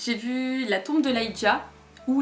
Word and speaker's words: Ligeia: Donc ensuite j'ai vu La Tombe de Lygia, ou Ligeia, je sais pas exactement comment ça se prononce, mais toujours est-il que dans le film ils disent Lygia, donc c'est comme ça que je dirais.